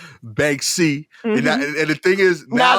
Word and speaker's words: Banksy: and uh finally uh bansky banksy banksy yeah right i said it wrong again didn't i yeah think of bank bank c yeah bank c okay banksy um why does